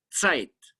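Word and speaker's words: Zeit: on con d u n d i site se escribe con z se ti que significa tiempo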